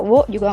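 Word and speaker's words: を: Karena partikel Wo itu biasanya dibacanya O. Tapi kalian kalau mau baca Wo juga nggak apa-apa, itu sama-sama benar kok.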